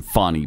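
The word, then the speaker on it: Fani: in the house from Fanny Willis I will never pronounce her name fonnie by the way that's just stupid that's what her dad taught her to do attakus tweets I love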